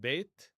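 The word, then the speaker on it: בֵּית: Now, this same word here can be pronounced beit, which means the house of.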